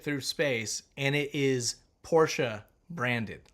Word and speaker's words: Porsche: syllables, buddy. Porsche.